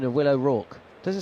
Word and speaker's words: O'Rourke: My pronunciation of Will O'Rourke, does it sound funny to you? Is it wrong? Yeah. Yeah. Because we've had a few comments. you just think of like Mickey Rourke.